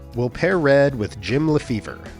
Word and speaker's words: Lefebvre: We'll pair red with Jim Lefebvre, whose name in French would be pronounced Lefebvre.